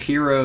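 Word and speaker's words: Hearo: He's the CEO at Hero Live, but it's Hero spelled with H-E-A-R-O, which is...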